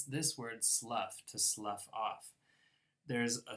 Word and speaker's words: Slough: then there's a town in England which is pronounced Slough where the British version of The Office took